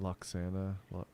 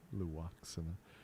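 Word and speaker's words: Lwaxana: Was it not Loxana? Say her name, Loaxana.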